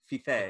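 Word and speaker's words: Fiffe: series, but I've been reading Copra by Michelle Feef, and Copra number 6. Can I just interject there? It is, yeah. Michelle Feife. Feife.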